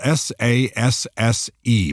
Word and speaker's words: Sasse: That's spelled s a s s e, but it's pronounced Sasse, just like I sassed you.